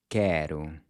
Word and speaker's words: quero: Listen to this word… “quero”. “que-ro”. “quero”. “**quero**” means “I want” One of my favorite songs is a song called “Quero Ser Feliz Também” **(I want to be happy too).** So first, you’ll notice that the “Q-U” has a /k/ sound, but it’s different